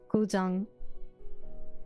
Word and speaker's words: Guzheng: How do I listen to the correct pronunciation? Guzheng.